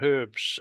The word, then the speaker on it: herbs: cosmetics made with Estonian herbs and plants. I say herbs because of my British education. I know it's not the right way to say it in Canada, but that's the way I say it.